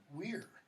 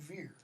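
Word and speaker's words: vir: For example, my marker, Latin for man, pronounced, according to Latin professors, weir. It's not veer. Okay, it's weir. W-I-R.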